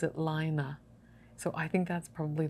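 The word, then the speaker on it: Laine: of this publication um everybody wants to pronounce it as lane which is the french word for wool but this is actually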